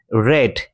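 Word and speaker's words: read: এই অংশে main verb হচ্ছে রেড। এটাও ভি টু তে রয়েছে। এর ভি ওয়ান হচ্ছে রিড কিন্তু স্পেলিং সেম শুধু উচ্চারণ আলাদা।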